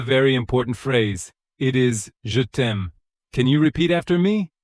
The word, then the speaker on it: je t'aime: It is je t'aime. Can you repeat after me? Je t'aime. Slowly, je t'aime.